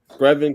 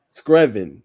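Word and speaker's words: Screven: Screvin County, bro. Scerven County. Screvin. Screvin.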